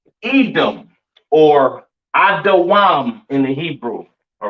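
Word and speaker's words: אדום: Pronounced Adawam in the Hebrew, all right? Edom Adawam.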